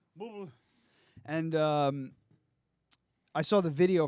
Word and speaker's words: Bublé: It's pronounced Booble. Booble? Yeah. Booble.